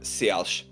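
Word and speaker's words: Si'ahl: Chief Seattle um or chief uh seos little closer to the original pronunciation and The woman there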